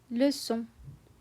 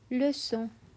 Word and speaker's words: leçon: It's pronounced as leçon, leçon, because there's a sédaille. The C turns into a soft S sound.